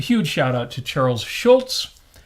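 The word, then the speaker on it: Schulz: shout out to Charles Schultz I still put the T in there even though I now know it's s CH hu LZ with no T interesting I wonder if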